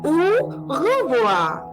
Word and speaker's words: au revoir: So we will pronounce au revoir, au revoir, au revoir. Again, you are not pronouncing the last R.